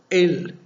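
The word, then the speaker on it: אל: las fuerzas y curiosamente la palabra hebrea que traducen como dios en la biblia se pronuncia el y también significa fuerza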